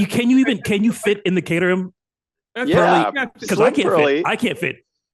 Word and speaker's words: Caterham: And Caterhams, they're fun. They're a lot of fun to drive. I was going to say, what's that pronunciation there? That's Santa. That's Santa Barbara. It's Caterham, like Broham.